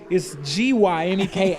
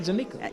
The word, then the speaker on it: Gyneka: on the YouTube channel, it's Gyneka, and it's not Gyneka.